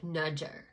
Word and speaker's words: Nazar: in with the Kunufa Nazar No More. My mom used to pronounce Nazar like Nudger.